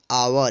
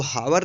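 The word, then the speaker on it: hour: रहेगा लेकिन एस का उच्चारण नहीं होगा यह साइलेंट रहेगा एच ओ यू आर इसको पढेंगे आवर इसको हवन नहीं पड़ेगा ध्यान रखिए का यह पढेंगे आवर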